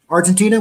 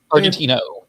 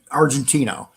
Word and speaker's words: Argentino: Argentina, would you say it like that? Argentino. Argentino.